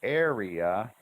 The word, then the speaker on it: area: Now, notice this word area has three different syllables. Area. But what we do is we double the R. Area. And why is that? Because each syllable is one vowel sound.